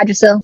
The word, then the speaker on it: Yggdrasil: Yeah, Yggdrasil. That's how you pronounce it.